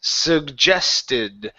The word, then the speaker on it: suggested: couple of things here the first G is a good sug the second G is a sug gest suggested okay now make sure to